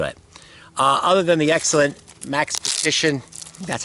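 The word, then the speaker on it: Maxpedition: Other than the excellent Max Petition, that's how you say it, sheath.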